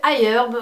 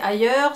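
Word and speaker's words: iHerb: énormément c'est le site ailleurs donc il y a beaucoup de bien se passer c'est quoi c'est ailleurs c'est heure c'est donc ailleurs ça s'écrit i.herb c'est un site en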